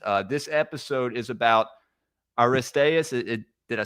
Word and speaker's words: Aristaeus: Uh, this episode is about Aristas.